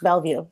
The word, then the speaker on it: Bellevue: Bellevue right your last name yes it's perfect Bellevue you like the first ones that say it